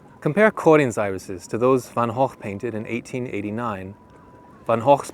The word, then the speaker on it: van Gogh: He is the Dutch painter whose name neither rhymes with show nor with cough, Vincent van Gogh.